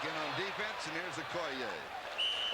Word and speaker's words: Okoye: Over the years, you have heard this man's name pronounced Christian Okoye. We asked him yesterday because we heard that we had been pronouncing it wrong. He says, yes, he says everybody has. The correct pronunciation is Okoye. So hopefully from now on it will be Okoye.